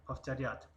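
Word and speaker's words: повторять: یک معلومات کوتاه در اینجا، حرف و هر وقت که پیش از حرف ت آمد ف تلفظ می شود. پافتریات.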